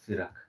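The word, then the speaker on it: Sirach: So, s i r a c h. That is the spelling of sirak.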